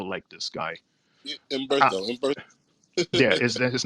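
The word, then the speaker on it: Humberto: Umberto. yeah, is that his name? Is the H is silent, so it's Yeah. Umberto, like umbrella What, you sound or like you're about to throw up.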